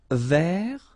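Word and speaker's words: vert: Remember Rouge ver so masculine form you don't pronounce the final t feminine form ver so listen carefully I don't say t but it's t ver okay so as usual this final uh only gives you the possibility to pronounce this t ver Okay.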